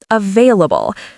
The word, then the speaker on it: available: And available is stressed on the second syllable, available.